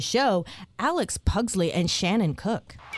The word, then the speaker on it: Kook: Please welcome to the show Alex Pugsley and Shannon Kook. Cook or Kook? Cook? Yeah. It's hard to tell. It's spelled sort of kook, yeah.